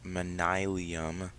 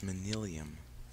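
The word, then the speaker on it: Manyullyn: know what I thought no it's minilium it's minillium David I hate you two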